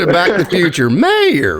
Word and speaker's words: Mayr: is mayor mayor mayor it is Mayor I promise you it is Mayor like Goldie Wilson and back the future mayor right yes is Mayor